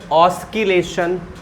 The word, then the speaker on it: oscillation: The pronunciation is just said as oscillation, मतलब written as oscillation and pronounced as what? Oscillation. Oscillation means that S is silent.